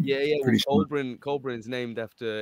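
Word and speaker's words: Coelbren: Colburn's named after, it's spelt differently, but Colburn, spelt like Col, C-O-E-L-B-R-E-N, is the like the ancient language of the British.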